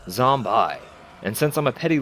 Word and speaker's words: Zombi: the end is gone so it reads zombie I and since I'm a